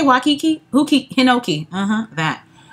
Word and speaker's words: Hinoki: Hinoki. Uh-huh. That. Hinoki, honey. Sounds like Pinocchio.